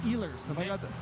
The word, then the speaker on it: Ehlers: played his career overseas, and cousins with Nick Ehlers. Is that how you pronounce that, from the Winnipeg Jets? Ehlers.